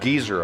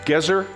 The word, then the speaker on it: Gezer: well gezer my mom used to call it geezer i go no mom then she would say oh that's what i am i'm an old geezer i go no mom wrong again it's pronounced gezer and it was excavated 100 years ago by